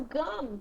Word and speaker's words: gum: Talvez o gum com M, eles puxem um pouquinho mais o M.